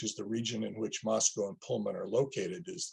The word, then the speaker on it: Moscow: and by the way we call it Moscow because during the Cold War residents were very careful to not say muscal so it's Moscow Idaho I realize I mispronounced